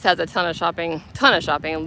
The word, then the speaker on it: Lititz: Lidditz, Lititz. I think I was saying it right.